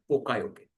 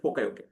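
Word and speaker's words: poka-yoke: proof is nothing but pokayoke. Now the pronunciation might be a little different in authentic Japanese language but let's for our understandings let's call it as pokayoke.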